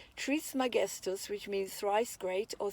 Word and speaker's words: Trismegistus: This teacher is most commonly called Hermes Trismegistus, pronounced Trismegistus, which means thrice great or 3 times great.